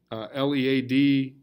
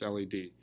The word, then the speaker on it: lead: L-E-A-D is a verb, is lead. If you want the past tense, it's L-E-D. L-E-A-D is only pronounced led if you're talking about a noun like lead in a pencil.